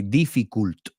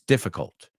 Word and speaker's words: difficult: Since everybody or most students mispronounce the word difficult, they say difficult. And that's not how it's pronounced. It's difficult.